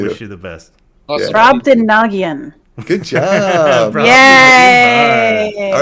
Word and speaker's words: Brobdingnagian: now he can Splice pronounce it in there. Brobdingnagian.